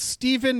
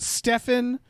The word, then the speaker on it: Stephen: Thank you to Stephen, quote, it's pronounced Stephen, not Stefan, end quote, Simmons.